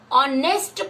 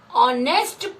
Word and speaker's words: honest: an ice cream, an honest person. Here the sound of H is silent. We say an honest person, an umbrella, an R.